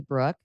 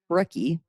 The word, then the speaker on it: Brooke: But so my name's Brooke. The E on the end is silent. It's Yeah. not Brookie, Yeah.